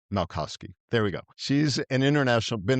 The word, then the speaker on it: Malkoski: Malkoski. Malkoski. All right, Malkoski.